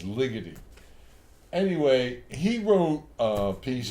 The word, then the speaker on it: Ligeti: There's this composer named Ligeti, I think is how you pronounce his name. Or if you want to pronounce it like an Italian, it's Ligeti. But I think he's Hungarian, so I think it's Ligeti.